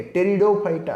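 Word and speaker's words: Pteridophyta: जिमति कि टेरिडोफाइटा पी अछि, पी is silent. Okay, टेरिडोफाइटा बोली कहला.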